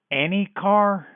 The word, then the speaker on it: ENYCAR: mispronunciation the organization name it's it's any car no no it's any college or any like Benny or Jenny any car that's right oops explains